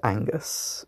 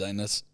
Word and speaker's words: Angus: ] there you go my name's pronounced Angus make sure to remember the G it's quite an important letter no worries anus oh no I thought